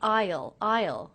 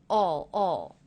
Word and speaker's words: I'll: I didn't say I'll. I said all. So it sounded a lot like this word. In fact, it sounded just like this word, all.